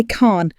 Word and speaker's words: can: Tom, so what do Americans say, Maria? We say Khn.